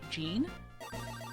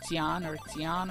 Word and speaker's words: Jean: Yeah, I didn't realize that his name is supposed to be pronounced like Jean. I always kind of pronounce it like Jian or whatever.